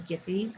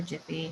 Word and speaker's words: Giphy: Go ahead and choose from Giphy or Jiffy, however you want to pronounce it.